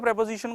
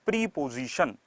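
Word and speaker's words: preposition: हम लोग बचपन से प्रेपोजिशन को रटते आए हैं, हाँ पहले तो इसको कुछ लोग प्रीपोजिशन कहते हैं, नहीं that's प्रेपोजिशन, प्रोनाउंसिएशन इज प्रेपोजिशन, ठीक है ना।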